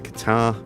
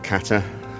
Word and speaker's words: Qatar: That's perfect into Qatar or Kata depending on how you want to pronounce it.